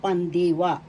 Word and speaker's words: pandiwa: ng speech pananalita is pandiwa first syllable pan second syllable d third syllable wa Pandiwa in English verb.